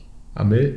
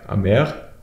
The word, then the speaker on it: Amer: Amel, Amer, nee, mit R. Amer, weißt du, Amstec Motors, hat die Platte nochmal 5 mm dicker gemacht und schon mal die Löcher reingemacht.